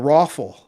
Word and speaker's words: ROFL: It's called the Rawful, and it's spelled ROFL, rolling on the floor laughing.